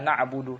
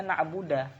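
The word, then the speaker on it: نَعْبُدُ: Seperti memfathahkan dal, ya, pada kata na'budu. Misalkan iyyaka na'budu, tapi dibacanya na'buda.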